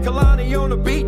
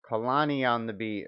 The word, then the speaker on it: Kalani Ondabeat: we get the tip Kalani on the beat okay so that's how we say that so we can pronounce it correctly smoke so electric gods